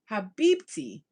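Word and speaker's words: حبيبتي: Habibti. It means, oh, it is pronounced with a T.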